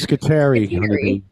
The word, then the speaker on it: Scutari: Yeah, we found out that Scutari might pronounce his name Scutari. Yeah, it's actually it's Scutari.